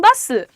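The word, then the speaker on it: bustle: This place has so much of हसल एंड बसल। This place has so much of हसल एंड बसल। अब pronunciation क्या है? Hostel लिखा है। पर हम बोल कैसे रहे हैं? हसल। हसल यहां पे टी साइलेंट है और बसल में तुम्हारा टी साइलेंट है।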